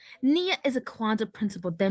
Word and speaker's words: Nia: It's pronounced ni-ya, ni-ya, ya, ya, ya, ya, ya, ni-ya. Nia is a Kwanzaa principle that means purpose.